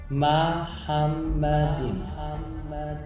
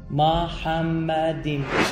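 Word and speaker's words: מחמדים: اما اینجا یه کلمه وجود داره که عبریش تلفظش اینه، ببینید، محمدیم.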